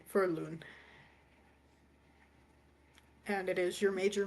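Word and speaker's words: Loun: So, uh, that's spelled L O U N for Loon and it is your major moon and the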